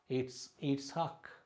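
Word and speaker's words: יצחק: அப்போ இட்ஸாக், இட்ஸ்ஹாக், இட்ஸ்ஹாக் அப்படின்னா ஈசாக்கு என்று சொல்வது தான் நம்ம வந்து எப்படி சொல்கிறோம், இந்த உச்சரிப்பு ஈசாக்கு என்று தமிழ், ஐசக் அப்படின்னு ஆங்கிலத்தில் சொல்கிறோம்.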